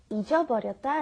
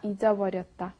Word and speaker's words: 잊어버렸다: We had 잃어버렸다, and then we compared that with 잊어버렸다. And like I said, they are interchangeable at certain situations, but you want to make it very clear when you pronounce it. It's very hard to say. 잃어버렸다 is I lost it. 잊어버렸다 is I forgot it.